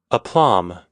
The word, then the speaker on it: aplomb: holding google this word suddenly aplomb a plum plum I said it right yay self-confidence or